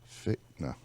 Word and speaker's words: Fichtner: And we're here with my guest today, actor William Fichtner.